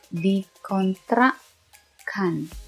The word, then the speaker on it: dikontrakkan: Double K, dikontrakkan. Dikontrakkan.